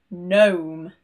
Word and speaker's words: gnome: The G is silent when it is next to an N, either at the beginning or the end of a word. For example, foreign, sign, gnome.